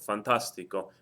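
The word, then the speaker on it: fantástico: you can hear that I'm stressing one of the syllables on the word it happens to be this a right here Fantastico so if I were to take this word and break it down into its various syllables you have Fantastico and if I if I count backwards from the end uh 1 2 3 the stress is over the third syllable or more back so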